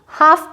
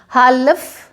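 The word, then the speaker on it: half: तो एफ से पहले एल आया है तो यहाँ पे हम इसको हाफ प्रोनाउंस करेंगे, हालफ नहीं बोलेंगे, हाफ बोलेंगे, ठीक है।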